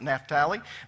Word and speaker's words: Naphtali: very bright Dan Naphtali now we usually pronounce it naturally but they don't over in Israel today they pronounce it Naphtali dan Naphtali GAD and